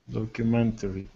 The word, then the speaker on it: documentary: Documentary. Good. So go right from the T to the R. Documentary, like this, the word tree at the end.